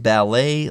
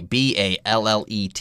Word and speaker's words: ballet: was influenced by childhood ballet lessons now ballet ba ll et it's not ballot although the adjective is